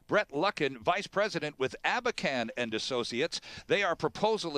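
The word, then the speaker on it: Abakhan: our guest is Brett lucken vice president with abacan and associates they are proposal administrators and trustees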